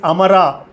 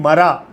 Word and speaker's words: Amara: Hey Pundanam, you are pronouncing the Sanskrit wrongly, okay? The Lord is Amara. The Lord is no death. That's why he called Amara. And you are making him Mara.